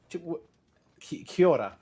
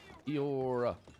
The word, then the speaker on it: Kia ora: Kia ora. Kia ora. Kia ora. Kiora.